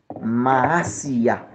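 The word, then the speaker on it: Mahasiah: Ange gardien qui marche avant l'an relé Maasiya. Maasiya s'écrit M A H A S I A H.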